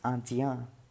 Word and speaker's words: indien: For example, in, it is pronounced as a. So with this word we will pronounce it as indien.